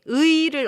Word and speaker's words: 의: 의를 어떻게 불어요? 어떻게 발음해요? 의? People often say 에 because it's hard to say 의.